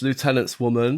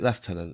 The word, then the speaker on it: lieutenant: Is it left tenant? Left tenant. An America. An American. That's one of the words that I just think, how do you pronounce it? Lieutenant or left tenant? Left tenant.